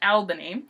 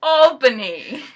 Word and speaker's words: Albany: of people don't seem to understand it's not pronounced Albany it's pronounced Albany I keep messing that up I know it's